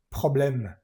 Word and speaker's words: problème: Esta e al final de las palabras no se pronuncia. Aquí tampoco. Dialog problem.